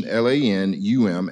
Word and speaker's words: Lanham: possibilities of knowing more Lanham is an old English surname it's uncommon enough that reinforcing its pronunciation LAN um and spelling LAN as a